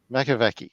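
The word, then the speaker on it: Makowiecki: Frederick Makwecki, I have no idea how to pronounce his name. Makoviecki.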